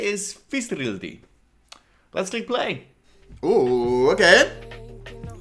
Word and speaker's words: Fiðrildi: The title is, I don't know how to exactly pronounce that D kind of thing with it. I think it's like an S sound. So what I would say is Fiðrildi.